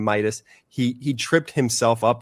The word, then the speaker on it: Midas: didn't know the name Midas. He he tripped himself up on the wrong on the wrong part, right? Usually when people try and pronounce Midas, if they don't know, they go like Medios or Mi, but he he